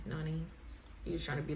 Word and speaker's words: Nani: he was like yeah your name rhymes with mine get it lonnie nani he was trying to